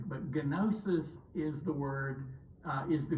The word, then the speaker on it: gnosis: Okay, the easiest way to remember the Gnostics is gnosis. Okay, you don't pronounce the G in Greek, but gnosis is the word, is the Greek word for the English word knowledge.